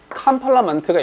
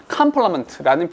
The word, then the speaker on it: complement: complement가 있고요. complement가 있죠. 이게 발음 기호 뒤져보시면 발음 기호가 동일해요. 똑같습니다. 그러니까 하나는 complement, 하나는 complement. 아니야. 둘 다 complement야. 발음 똑같습니다. 발음 기호 똑같아 이거.